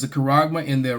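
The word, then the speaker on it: χάραγμα: and bond, to receive a kuragma." All right, that's how it's said in the Greek. That's the word that's actually there. You know in English is another word but it says a kuragma in their right hand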